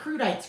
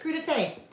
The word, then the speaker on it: crudité: Crudité. Crudites. Crudites. Your crudité is kind of like your little vegetable plate, right? Crudites. Not crudites. Crudité. Okay, this is another one.